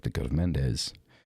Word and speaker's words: Mendes: like the go of Mendes you're talking about or menas I suppose would be the pronoun of correct pronunciation I'm doing like a Spanish pronunciation menas I think would be the proper pronunciation there but you know what